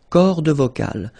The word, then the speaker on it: cordes vocales: Les cordes vocales. So you can notice that, as usual in French, you've got this mark of the plural at the end, S. And then S here as well, but you don't pronounce them, okay?